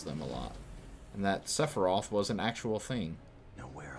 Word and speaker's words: Sephiroth: used to say and sephiroth prior to actually being pronounced i used to say sapphire um because i was 12 and didn't know any better i didn't realize